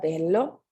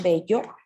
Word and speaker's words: bello: Y tenemos aquí en nuestra palabra bello, ¿sí? Una regla del sonido alargado, ¿sí? De la doble consonante. En vez de decir bello, ¿sí? Como en español, la pronunciación bello, tenemos bello, ¿sí?